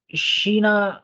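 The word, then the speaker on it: China: You calling it चीना? शीना क्योंकि उसमें वहां पे जो है ना वो CH शुरू में है, इस वजह से।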